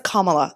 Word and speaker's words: Kamala: let's go for it Kamala her name is kamla this is not hard y'all so okay so the